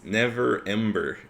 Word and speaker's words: Neverember: see Everwinter and Okay, let's say his name the correctly. Lord Justicar. It's Neverember.